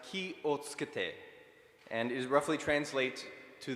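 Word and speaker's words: 気をつけて: The phrase is pronounced ki o tsukete, and is roughly translates to the English that is beside it, which is take care of yourself.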